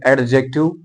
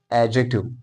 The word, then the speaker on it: adjective: एडजेक्टिव अगर आप पढ़ेंगे इसमें हम डी प्रोनाउंस करते हैं, बट यहां पर जो डी है इट is silent, so you would not pronounce it as adjective, you will simply pronounce it as adjective.